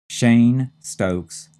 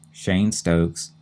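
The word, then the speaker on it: Cheyne-Stokes: we have one more term and that is Shane Stokes respiration Shane is c h e y NE e hyphen sto s t o k s Shane Stokes and then respiration r s p i r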